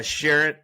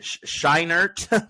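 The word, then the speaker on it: Scheinert: think it's it's I think it's Danielle uh Sharon uh shinert pardon me and Daniel Quan for everything everywhere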